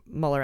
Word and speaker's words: Mueller: German Mueller parrot but that's how Muller actually would pronounce his name if he were in Germany we have nothing further